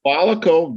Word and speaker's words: Volico: Volico, VOLICO, Volico Data Centers.